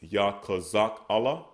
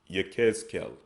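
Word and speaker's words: יחזקאל: Next we have Ezekiel, which we pronounce as Yakazak Allah. Yakazak Allah. They pronounce it as Yechezkel. Okay, Yechezkel, Ezekiel.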